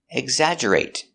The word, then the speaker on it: exaggerate: Pronunciation, exaggerate. G, egg. Z, eggs, eggs. Exa. J, exag. Exagger. Exagger. Exaggerate. Exaggerate. Exaggerate. Remember to use a stop T.